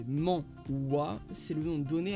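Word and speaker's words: manhwa: étoiles de masse à quito sodas les molloy prononcé mans ouah c'est le nom donné à la bande dessinée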